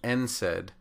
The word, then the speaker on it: NSAID: unlike something like an NSAID in which you say the letter N and then pronounce the word said these are initialisms and